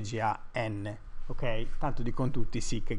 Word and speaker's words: GaN: si dice Si ok E non si dice Gun Ma si dice g n Ok Tanto dicon tutti